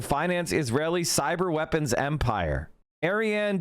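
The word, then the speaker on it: Ariane: Oh, it's Arianne.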